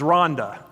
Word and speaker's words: Rwanda: I've had the privilege of serving with the leadership of a country Americans call Rwanda. The proper pronunciation is Rhonda.